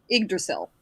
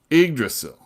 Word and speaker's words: Yggdrasil: Yggdrasil. Yggdrasil.